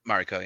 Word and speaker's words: Mariko: The whole journey that Blackthorn goes through, his relationship with Mariko, is that how you say her name? Mariko, yeah. Yeah, Mariko.